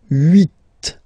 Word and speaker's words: huit: Okay, then here final T is pronounced, so huit, huit. Remember in French this H letter here, okay, doesn't exist phonetically, so we don't really pronounce it, okay? So if you listen carefully, you will only listen or hear these vowels at the beginning of the word.